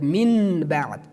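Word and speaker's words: من بعد: We do not pronounce that Min Ba'd. No, we remove Noon, and we instead Noon we pronounce Mim, like Min Ba'd.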